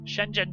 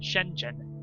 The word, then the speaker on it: Shenzhen: Take, for a totally random example, Shenzhen. How do you say it? What's the ZH doing in there? Can you just ignore the H? Spoiler warning, you can't. ZH is its own sound in Chinese.